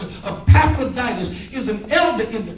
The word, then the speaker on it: Epaphroditus: That's how you pronounce it. Epaphroditus is an elder in the church.